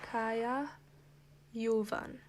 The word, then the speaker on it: Kaja Juvan: Kaya Yuan.